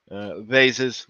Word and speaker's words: vases: Vases or vases, depending on how you prefer to pronounce it.